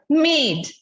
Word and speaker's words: made: Now, if we add the magic E, the sound of A is not pronounced, it does not say the sound A, it takes its name A, M, A, D, made.